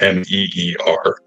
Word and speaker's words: Mere: And from best I can tell, you pronounce it Mere, MEER, is how it is meant to be.